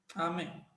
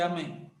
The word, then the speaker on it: amém: a sílaba forte de Amém qual sílaba forte aí você faz a técnica do grito amém amém aí você vê a sílaba forte de Amém é essa aqui tá